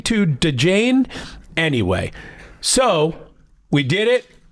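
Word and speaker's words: Djane: Hey, your husband wants to change the baby's name to DeJane. Anyway, so we did it. That is her name. It is D-J-A-N-E, Carmen Jane. The D is silent.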